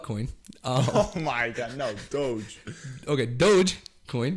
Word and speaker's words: doge: these uh the quick bites and that's the doji it's no shot you pronounce it doji dude it's not though she doge it's not dojo but there's e in there